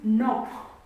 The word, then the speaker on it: knock: k is silent is knock. The word is knock. Knock. This is the word knock. We read this word with knock, but this k is silent. We read this word as knock.